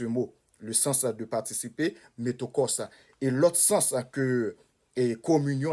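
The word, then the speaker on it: μέτοχος: Gagnait métokos, la CH prononce comme K, métokos.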